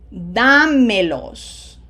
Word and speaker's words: dámelos: Notice every one of them has a graphic accent on the third syllable, third from the right.